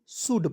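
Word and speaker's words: should: एक साथ रहेगा तो ओ यू के साथ आपको ओ को काट देना है छोटा ओ की मात्रा का प्रयोग करना है एल को काट देना है और डी को ड लिखना है शुड एस एच ओ यू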